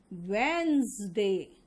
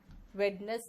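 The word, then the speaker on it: Wednesday: Poison, cousin, wizard, and इसका pronunciation होगा वेंसडे। Veins, वेडनेस नहीं, वेंस।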